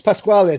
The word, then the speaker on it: Pasquale: pronounce it right anyway. I don't know how would you. It's Pasquale, definitely.